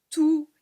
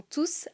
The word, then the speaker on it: tous: On prononce le S car « tous » n'est pas suivi d'un nom. Ils sont tous arrivés à l'heure pour le début du spectacle.